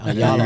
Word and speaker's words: Ayala: Ayala.